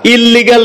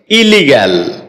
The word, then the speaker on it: illegal: ইলিগাল এটাকে আমরা ইললিগাল বলে থাকি। যার সঠিক উচ্চারণ হচ্ছে ইলিগাল।